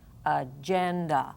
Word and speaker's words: agenda: and an open syllable let's say the word agenda where's the accent agenda ooh so we have an unaccented and an unaccented both of these are going to sound like short uh agenda now this would be